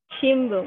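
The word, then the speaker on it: 新聞: eh shinbun shimbung oke Ini bacanya shimbung Ya karena ini kan n karena dia diikuti huruf B di depannya makanya n itu jadinya n Oke bentar Bila ya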